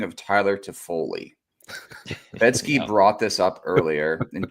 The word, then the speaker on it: Toffoli: B, or C, pick which way you think it's spelled. But when you say it out loud, it's Toffoli, right? Toffoli.